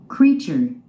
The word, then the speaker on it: creature: Creature. Creature. Creature. 그렇죠? 첫 음절에 스트레스가 있습니다. 흔히들 어떤 분들은 하는 분이 있는데, 물론 크리에이터라는 그런 발음 때문에 크리에이처라고 하지 않았나 이런 생각이 듭니다. 발음은 정확한 발음은 크리처입니다.